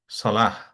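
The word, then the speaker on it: صلاة: সলাহ। আমরা বলি সলাহ। সলাহ হচ্ছে প্রেয়ার। সলাহ হচ্ছে প্রেয়ার। এখন এই ওয়াটাও কিন্তু উচ্চারণ হবে না, এটা আমরা আগেও বলেছি।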